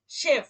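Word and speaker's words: Chef: তারপর কি, শেফ, শেফ মানে হচ্ছে বস, অফিসের বস, শেফ। দেখেন তালবীয় শ শব্দের শুরুতে ছিল বলে আর উচ্চারণটা কি হয়েছে, তালবীয় শ এর মতো।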